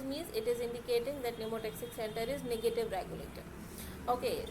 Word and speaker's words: pneumotaxic: You knows pneumotaxic center, it is pronouncing from the N, so you can call it as negative regulation, and apneustic center is pronouncing from the A, so you can remember it by addition, so plus.